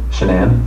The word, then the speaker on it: Shanann: yes and i don't want to pronounce her name wrong she name shanann okay so the police have shenan's phone yep